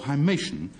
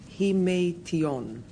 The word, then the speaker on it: himation: So therefore, hymation is the actual action or process of walking by a stilt. Righto. Rula, Lenska's go. Hymation should in fact be pronounced himation, because it comes from the Greek, and it is in